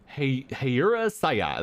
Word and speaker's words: Hayura Saya: Mundane, Mikey Desky, and Hayura Saya. You know, I speak Japanese. You'd think I would be able to pronounce that. Hayura Saya. There we go.